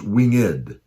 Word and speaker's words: winged: We see the little apostrophe above winged, so it's pronounced winged. It's putting that emphasis on the E.